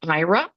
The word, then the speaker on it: Aira: Um, Next up is the IRA platform. That's spelled AIRA.